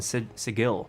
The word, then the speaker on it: Sigil: It's Sigil, by the way. It's not Sigil. It says so in the 2nd edition book that anyone who pronounces it Sigil is clearly a clueless Burke who just arrived.